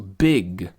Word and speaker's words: big: Em inglês, a gente quase não pronuncia. Quer dizer, a gente pronuncia só 10 ou 15% do som do G no final.